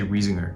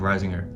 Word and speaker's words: Reisinger: my last name actually they say wheezinger instead of rising her um but Risinger r-e-i-s-i-n-g-e-r and you'll get 20